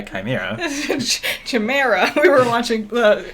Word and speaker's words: chimera: It's a chimera, not a chimera.